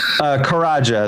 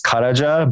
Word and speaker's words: Karaca: do you pronounce it karaja so um okay sorry in Turkish the C is like a j so it's karaja but you know you